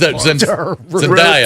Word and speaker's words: Zendaya: Zendaya, Two right?